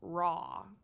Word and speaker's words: Roy: and Matt Williamson and Felix raw although it's spelled Roy but he's French so it's raw they got quick time